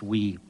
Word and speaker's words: Wii: and yes that is spelled Wii but pronounced we you know up until